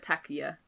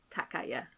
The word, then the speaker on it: Takaya: I think I said Takiya. I meant to say Takaya. I think you said Takaya, but could be wrong.